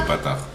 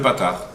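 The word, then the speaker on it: פתח: en tout cas voilà dans la prononciation hashkenas on voit vraiment la différence qui a entre le kamat et le Patard c'est que le Patard c'est ouvert alors que le kamat ça veut dire fermé ça ve dire on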